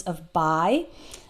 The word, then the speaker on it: of: So in the word of, spelled with only one F, the F is actually pronounced like V, of. Don't pronounce it like that. I'm just exaggerating it to show you what the sound is like. Of. It's a V sound.